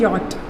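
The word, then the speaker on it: yacht: इसको कुछ लोग याच बोलते हैं, but this is नॉट the correct pronunciation. इसको बोलते हैं यॉट. ठीक है, YAT, यॉट.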